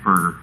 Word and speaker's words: Berger: Maybe Alice who knows him says it's Berger. Okay, so I was right.